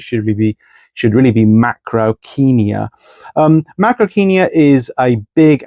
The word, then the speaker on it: Macrauchenia: Often mispronounced macrochenia. That's how I've said it until very recently. Turns out it should be should really be macroenia.